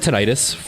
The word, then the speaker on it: tinnitus: maybe 4, because so I have tinnitus, and if you don't know what tinnitus is, it's like, or tinnitus depending on how you pronounce it, it's like a